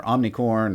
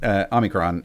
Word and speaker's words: Omicron: But we're straight to Omicron or Omnicorn, or anyway, people pronounce it all kinds of funny ways. But Omicron is how you would say it.